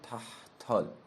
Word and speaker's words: تحتال: ملک یا ملک یا ملک یا ملکو و تحدالم با تای مفخم و حجای سنگینه هجا اول ساکن حجا دوم فتح کشیده است یعنی ملکل ملکل ملکل تحتال اینطور تلفظ میشه اگه بخوایم بگیم خب